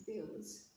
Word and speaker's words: abuse: So this word has been written in bold, and in this case we'll stress the second part of abuse, that is abuse.